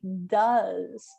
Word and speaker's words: does: change it to has instead of do's d-o-s we say does so the pronunciation changes and it's got an e-s and instead of go